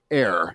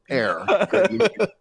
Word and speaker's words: error: saying it after yesterday erir not error air oh that's what they were saying we missed that second syllable error error hey by